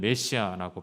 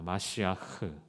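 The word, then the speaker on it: מָשִׁיחַ: 우리는 메시아라고 표현하는데 정확한 발음은 마시아흐입니다. 마시아흐.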